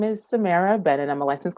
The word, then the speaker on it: Samiyrah: yeah like you're looking into a mirror yes Samara LCSW we talked about this beforehand I said to her I butchered someone's name once so I always ask